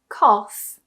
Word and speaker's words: cough: In some cases, towards the end of a word, GH is actually pronounced as f.